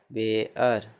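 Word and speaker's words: bear: लेकिन इसमें कुछ अपवाद है, जैसे लेकिन कुछ शब्द में ई ए से आर जुड़ा, ई ए से आर जुड़ने के बावजूद भी ई ए का उच्चारण ए होता है, ई ए का उच्चारण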